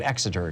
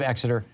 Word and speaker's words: Exeter: This is in University of Exeter. Excuse me, I was saying it wrong. University of Exeter, and they studied, did